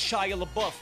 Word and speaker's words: Shia LaBeouf: And it's pronounced Shia LaBeouf.